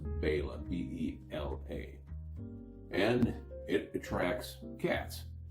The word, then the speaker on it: Bela: I might just call it Bela sardines because it's easier, but it should be pronounced Bela, B-E-L-A.